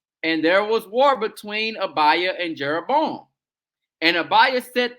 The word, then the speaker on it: Abijah: It's spelled Abijah, but it's really Abiah.